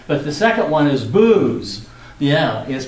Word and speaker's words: Buz: the second one is booze yeah yes pronounced booze like alcohol huh and so has